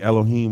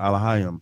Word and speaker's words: Elohim: So that's how he was, but God could be Elohim or Elohim, depending on what dialect of Hebrew that you speak.